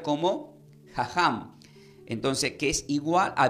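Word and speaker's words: חכם: la palabra del hebreo la palabra sabio se pronuncia como jajam entonces que es igual a vivir de acuerdo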